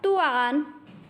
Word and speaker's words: duan: Will be pronounced as tuan, tuan.